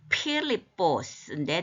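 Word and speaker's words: Φίλιππος: 반복의 의미가 항상 있잖아요 자 사람 이름인데 이게 큰가 이렇게 발음이 필립보스인데 남성 명사죠이 이름이 말을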